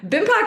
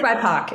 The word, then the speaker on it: BIPOC: I can't even like, I mean, clearly I've already pronounced it wrong too, but I thought it was BIPOC. No, it is BIPOC.